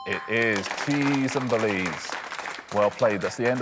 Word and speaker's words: Belize: - Cheese and Belize? - It's the only one that rhymes with cheese, isn't it? Is that right? It is. Cheese and Belize.